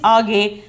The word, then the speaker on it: आगे: The pronunciation is आगे.